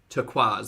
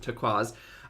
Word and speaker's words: turquoise: moss green and turquoise turquaz sorry that's how you pronounce it turquaz uh which looked terrible